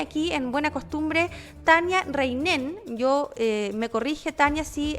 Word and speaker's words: Rheinen: está en línea aquí en buena costumbre tania reinen yo me corrige tania así he pronunciado mal su apellido ella es directora de